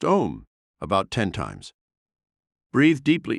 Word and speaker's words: Om: gently humming the sacred Mantra Al pronounced om about 10 times breathe